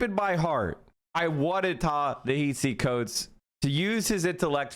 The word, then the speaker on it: Ta-Nehisi: By the way, it's pronounced Asi, not Hisi. Ta-Nehisi Coates.